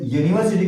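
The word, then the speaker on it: university: तो जब यूनिवर्सिटी को पढ़ेंगे तो यह से पढ़ते हैं, ऐसे पढ़ते हैं यूनिवर्सिटी पढ़ेंगे, यूनिवर्सिटी ऐसे पढ़ा जाएगा। मतलब कहने का शुरुआत का जो प्रोनाउंसिएशन है वह आपका कॉन्सोनेंट साउंड से है, या से स्टार्ट है, इसलिए इससे पहले क्या लगेगा ए लगेगा।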